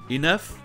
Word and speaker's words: enough: Enough, rough et tough. Enough! Okay. Do you want to play rough? Okay. Who's a tough guy? Who's a tough guy? Les trois se prononcent œuf.